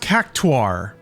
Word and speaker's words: Cactuar: It is pronounced cactuar.